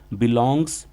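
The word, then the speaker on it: belongs: तो इसको इंग्लिश में कैसे पढ़ोगे, बिलोंग्स टू। कुछ बच्चे इसको प्रोनाउंसिएट करना भूल जाते हैं, एस को नहीं पढ़ते, नहीं बिलोंग्स टू।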